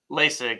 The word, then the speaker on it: Laessig: Am I pronouncing that right? Is it Laessig? Laessig? Laessig, yep, Laessig.